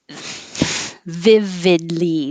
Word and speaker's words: vividly: options these are um the vividly the vowel on both v and vid is the i in hit so make sure that